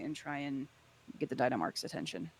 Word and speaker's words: Dynamarx: I don't know why I can't pronounce his fucking name. Dynamarx.